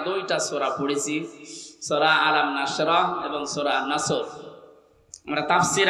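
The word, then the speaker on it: نصر: এজন্য তেলাওয়াত যখন করবেন উচ্চারণটা মুখ গোল করা লাগে আল্লাহ পাক জানিয়েছেন যখন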